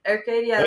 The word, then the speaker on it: Arcadia: but uh luckily AR Arcadia wow butchering that pronunciation but anyway Arcadia you got it that's it Arcadia Oh yay